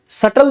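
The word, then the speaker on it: subtle: बनाए ठीक है बस सटल देखो छोटा सा वर्ड है सूक्ष्म वर्ड है लेकिन इसका प्रोनंसिएशन बड़ा जटिल है क्योंकि इसमें बी साइलेंट है तो सटल शब्द छोटा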